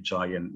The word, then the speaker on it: giant: Ya, jadi kenapa raksasa bacanya giant? Itu pakai huruf G. Karena ketemu huruf I.